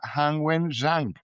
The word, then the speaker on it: Han Wen-Zhang: Con nosotros está Han Wen-Zhang. Creo que lo pronuncié bien, ¿cierto? Sí, perfecto.